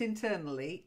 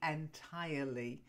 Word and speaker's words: entirely: is from entire entirely entirely entirely entirely not internally entirely it means incomplete completely